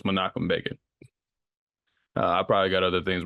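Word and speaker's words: Menachem Begin: bot these men's names so the name is monum Bean not manich ban you will hear me say it wrong throughout the episode but so it's makum ban I probably got other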